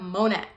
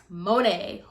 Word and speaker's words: Monat: now let's talk about monet monet who cares so technically it's supposed to be like the the brand is modern natural so mo net so i'm just gonna call it mo net so if i